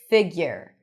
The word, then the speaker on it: figure: So you can add a little Y sound there, but there is no U even though there is the letter U. Figure.